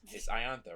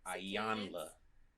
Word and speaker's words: Iantha: right way no no i think i got it it's iantha right you know why because i was at my mom's house last weekend and the weekend before last and she was watching ayanla fix my life and for whatever reason when i would start to try to say your name i would say her name so i was trying not to say ayanla that's a cadence they